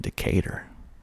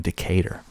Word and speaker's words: Decatur: it's cooler and cooler it's greater in decatur that's another one decatur decatur georgia i think i